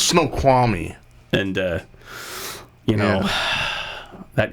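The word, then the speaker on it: Snoqualmie: which as you know Fanboy as you know snow kwami is up in Washington I learn I just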